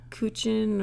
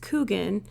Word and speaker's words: Kuchen: is it you are kugan a lot of people want to pronounce it coochin or kin but I've always heard it pronounced cougan even though it does have a CH in the middle love it cuz that's